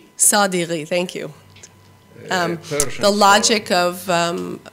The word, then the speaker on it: Sadeghi: I don't quite know how to pronounce his name. Sadeghi, thank you.